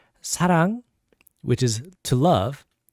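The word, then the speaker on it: 사랑: careful uh words like sarang which is to love it's not like but it's not wrong it's in between l and r sound so it's like it's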